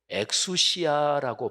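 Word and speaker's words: ἐξουσία: 이거를 헬라어로 엑수시아라고 발음을 하는데요.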